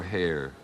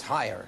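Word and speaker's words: Hier: I pronouncing it correctly is it higher or hair no it's higher it is higher okay um yes C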